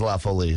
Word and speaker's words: La Folie: folie I'm actually delicious there's always some debate about how to pronounce it but lindo has settled it cuz he's French room well yeah they the way hey I don't know the way they sold it to me was lawfully so cool and that is that is the widely understood pronunciation of it it is a sour